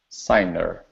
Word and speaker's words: signer: the word serer okay it looks very similar to singer okay but the n and the g are in different positions so this is sign serer signer good good all right